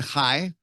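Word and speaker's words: חי: it contains Hebrew words beginning with the word high high is is on the cover it's spelled yud a has a value of eight a UD has a value of 10 each Hebrew letter has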